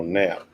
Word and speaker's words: Knapp: The K is silent. Oh, Knapp.